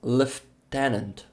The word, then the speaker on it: lieutenant: Uh Charlie's saying fun fact in the UK pronounce lieutenant as lift tenant. Lieutenant I have no idea why and it's stupid but I love it. Lieutenant. Wow. I've never heard that one.